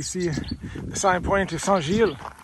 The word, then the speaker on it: Saint-Gilles: only a couple kilometers to go and we see the sign pointing to sanjil sanjil that's how you pronounce it yeah but it's been a very